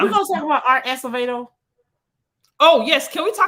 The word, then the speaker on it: Acevedo: Are we gonna talk about Art Acevedo?